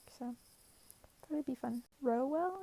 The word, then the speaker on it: Rowell: that would be fun row well i think is how you say it rainbow rowell um